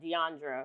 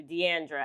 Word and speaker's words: Diandra: Like my name is pronounced Diandra, yes. but a lot of people do Diandra.